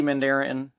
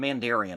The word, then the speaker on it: Mandarin: the mandarin as lady mandarin mandarin excuse me i always called him mandarian i don't know why as a as a kid that's how i always pronounced it what do i know